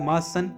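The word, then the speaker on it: Martian: You haven't heard, ने कभी नहीं सुना होगा about the मार्सन invention of 2040। मार्सन यानी होता है मंगल ग्रह के निवासी, इसमें टी साइलेंट है।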